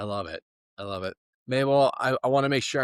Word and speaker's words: Mabel: So my mom in Spanish, it's Mabel. And then the way it was spelled Mabe, then it's pronounced Mabel, right?